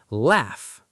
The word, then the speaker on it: laugh: Laugh. Say it. Laugh. The GH sounds like F.